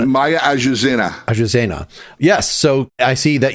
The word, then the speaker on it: Azucena: How do you pronounce it? Maya Azucena. Azucena.